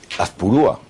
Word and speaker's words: Azpurúa: Azpurúa, esto Azpurúa. me suena... Azpurúa. Ah, pues me han puesto el acento en el otro sitio.